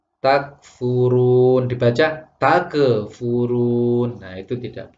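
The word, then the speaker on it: تكفرون: Seharusnya bacanya takfurun, dibaca takfurun.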